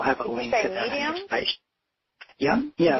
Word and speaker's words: Mediem: Medium? Yeah. Did you say medium, like small, medium, large, like that? Yeah. Yeah. Okay. Yep. Gotcha. Yeah, it's spelled a little differently, MEDIEM.